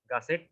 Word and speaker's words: gusset: এই প্লেটটাকে বলা হচ্ছে গাসেট প্লেট। এটাকে কি বলে? গাছের প্লেট। এরকম 2 বা 2 এর বেশি স্টিলের মেম্বার যদি একটা জায়গায় কানেক্ট করতে হয়, এর বানানটা হচ্ছে GUSSET, গাসেট প্লেট।